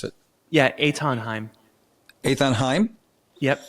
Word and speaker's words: Eithan Haim: But how would you pronounce it? Yeah. Etonheim.